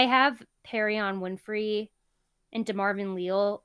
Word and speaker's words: Leal: No, it's Leal. God, what It is not a stream if I'm not pronouncing It someone's name should be wrong.